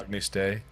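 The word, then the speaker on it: Agnus Dei: Agnes Day. A what is it? Agnes Day. Agnes Day. Close enough. Oh yeah. Agnes. Agnes. Agnes Day.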